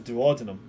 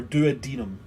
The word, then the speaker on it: duodenum: This creature apparently appears to have a duodenum. Ooh. Or, I suppose, the correct pronunciation, a duodenum. Or duodenum, sometimes.